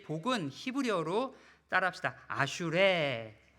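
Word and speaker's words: אשרי: 옆에 있는 사람 보시면서 아슈레. 와, 반대편 보고 또 합시다. 아슈레. 어떻게 막 감동이 찾아오십니까? 근데 어떤 사람들이 이 아슈레를 잘못 발음해서 아수라라고 발음해요.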